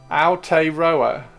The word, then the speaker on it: Aotearoa: Ow, as if you stubbed your toe. Aotearoa.